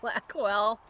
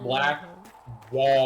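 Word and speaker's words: Blackwall: let's go talk to Blackwell. Black. Black wall. Black wall. I know. I keep calling him Blackwell. I'm sorry. I'm gonna keep correcting you until you say it right.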